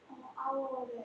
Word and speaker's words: hour: Hour에 H가 그렇죠. mute죠. 무음이죠. 그래서 이 발음이 hour가 아니고 뭐예요? Hour. 발음 이유로 쓰면 hour. 아 소리는 무슨 소리? 자음 소리, 모음 소리? 모음 소리. 모음 소리죠.